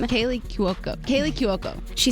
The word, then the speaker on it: Cuoco: name kaylee kyoku kaylie kiyoko she said think of it as ku as in coup d'etat now say it's kayla